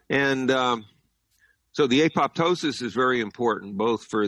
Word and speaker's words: apoptosis: following EMF exposures uh what's called apoptosis sometimes pronounced apoptosis program cell death uh